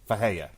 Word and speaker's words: Ferreira: For the record, why Mark is struggling with this, his last name is spelled Ferreira, but he is Brazilian, and in Brazil, most R's, in Portuguese, most R's are pronounced like H's.